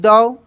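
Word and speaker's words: thought: जैसे सी ओ यू जी एच टी कॉट यहां पे था टी एच ओ यू जी एच टी दऊ ठीक है जी एच साइलेंट है एंड सेंट टू बी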